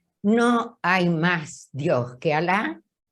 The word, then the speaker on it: Alá: Y la palabra árabe Allah, que en español la pronunciamos como Alá, significa Dios.